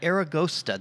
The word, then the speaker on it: Aragosta: now here i am here you are and aragosta did i say it right yes eragosta means